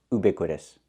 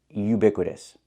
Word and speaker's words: ubiquitous: Yes, I know what it means, but it's not pronounced ubiquitous. The word is pronounced ubiquitous. Not oo, but u. We need the y sound like yellow and yesterday. Ubiquitous, not ubiquitous, but ubiquitous.